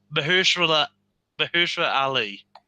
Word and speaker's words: Mahershala Ali: Viggo Mortensen and coming through the other one, Mahershala Ali. You got it. I probably still didn't pronounce his name right.